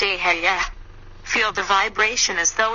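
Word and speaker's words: אהיה: same size vibrate the Hebrew God name eh eih pronounced a Hey feel the vibration as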